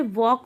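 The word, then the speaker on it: walk: जैसे यहाँ पर आपको देखने को मिलेगा, वॉल का आप नहीं बोलेंगे, वॉक बोलेंगे, आपको यहाँ पे ल का साउंड जो है वह क्या दिखेगा, साइलेंट दिखेगा।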